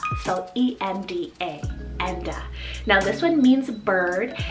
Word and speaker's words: Enda: another great uncle's name and his name is enda so e-m-d-a enda now this one means bird and it symbolizes